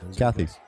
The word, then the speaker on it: Cathey: Yeah, so some people try to put like the French accent Cathey. On it, but it's actually Irish. Oh, okay. So. Good. Cathey.